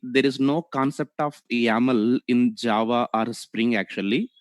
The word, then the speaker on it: YAML: Okay, for pronunciation purpose we call actually yaml, so extension is .yml here.